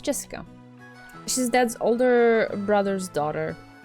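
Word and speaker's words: 朱志香: You see, that thing is pronounced Jessica.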